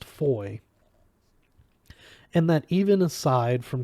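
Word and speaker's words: Fowey: town they learned that the various FES were all pronounced Foy and that even aside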